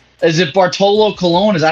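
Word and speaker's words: Bartolo Colón: so correct me if I'm wrong is it Bartolo Colon is that how you pronounce it yes okay uh he officially retired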